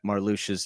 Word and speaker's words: Marluxia: in the new version, I now know that Marluxia's name is actually pronounced that way instead of Marluxia, like I had originally thought.